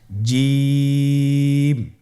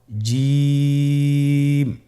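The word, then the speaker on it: ج: আপনারা আমার সাথে করুন জিম মাশআল্লাহ আবার বলুন জিম আপনারা চেষ্টা করুন হয়ে যাবে এর মাখরাজ হলো জিহ্বার মধ্যখান তার বরাবর উপরের তালুর সঙ্গে লাগিয়ে উচ্চারিত হয় আপনারা পিকচারে ছবিতে দেখতে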